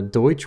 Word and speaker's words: Deutsch: And then he did a Deutsch Works or De Works is how they pronounce it.